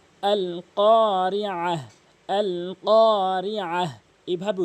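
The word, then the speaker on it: القارعة: এখানে শুধু কফটা টেনেছি এবং উচ্চারণটা করেছি জিহ্বার গোড়া থেকে উপরের তালুর সঙ্গে ক, এবং কফটা এক আলিফ টেনেছি জবরের বাম পাশে খালি আলিফ হওয়ার কারণে।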